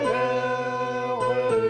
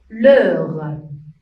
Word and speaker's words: heure: L'heure. Combien de syllabes ici? Réfléchissez bien. Oui, très bien. 2 syllabes. 2 syllabes. Le R. Ici, H est une lettre muette.